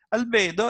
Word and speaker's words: albedo: ammettiamo qui dove dice albedo al bidone la pronuncia esatta albedo è praticamente un modo in cui si indica